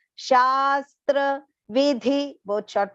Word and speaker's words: शास्त्र: Yashastra, again here long sha and half sa, half the and complete ra. Shastra, vidhi, both short pronunciations.